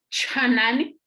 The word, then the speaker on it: chanani: Vamos a pronunciar, por ejemplo, chanani, esa palabra, chanani, es como si expulsaran ese airecito que está ahí, chanan.